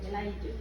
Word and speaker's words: Elijah: But if you read the life of Elijah, how do you pronounce that one? Elijah.